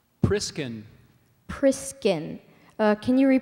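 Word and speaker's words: priscan: o l o m o n i c priskin priskin uh can you repr pronounce the word priskin priskin uh can I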